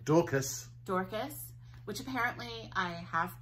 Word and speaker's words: Dorcas: Dorcas, which apparently I have pronounced correctly.